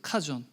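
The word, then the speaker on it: חזון: 카존. 뭐 한국어에는 하존이라고 하는데 사실은 카존이에요. 카존. 사실 CH 발음이거든요. 우리나라는 발음이 없어요.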